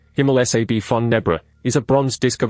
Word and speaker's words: Himmelscheibe von Nebra: The Nebra Sky Disc, German Himmelscheibe von Nebra, pronounced Himmel SAB von Nebra, is a bronze disc